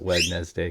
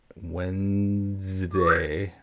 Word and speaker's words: Wednesday: But I always call it Wedness Day cuz that's how it's spelled and it's easy to remember how to spell it if you pronounce it the way it's spelled. But it is Wednesday. Wednesday.